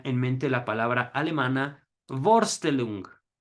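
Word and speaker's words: Vorstellung: mente la palabra alemana borstel long que quiere decir representación y estoy latinizado el alemán no se pronuncia así pero más o menos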